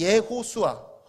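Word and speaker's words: יהושע: 둘 다 같은 어원을 가진 단어인데 원래 이 예호수아, 히브리어로 예호수아라고 발음을 하는데 이 히브리어가 바벨론 포로기를 거치면서 예슈아라는 말로 좀 짧아졌고요.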